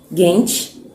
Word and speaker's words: genç: Gente termina com C, com cedilha, que a pronúncia é tche.